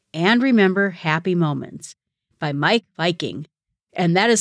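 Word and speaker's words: Meik Wiking: how to create and remember happy Moments by Mike Viking and that is spelled m-e-i-k w-i-k-i-n-g he wrote a couple of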